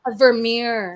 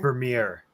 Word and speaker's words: Vermeer: like it looked gorgeous like how do I pronounce that painter's name Vermeer Vermeer like a Vermeer painting well said Jeanette opening